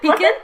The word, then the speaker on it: Piquant: Yeah, Piquant.